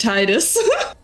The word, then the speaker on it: Fleetus: It's pronounced Titus.